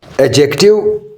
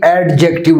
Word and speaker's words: adjective: एडजेक्टिव के पहले हम डिफिनेशन करें। याद रहे बच्चों, इसकी प्रोनंसिएशन अदायगी एडजेक्टिव नहीं है, एडजेक्टिव है, डी साइलेंट है एडजेक्टिव।